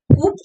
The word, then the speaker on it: coup: जैसे C-O-U-P है, कूप हम इसको पढ़ेंगे, पर ये कूप नहीं है, ये कू है, P silent है.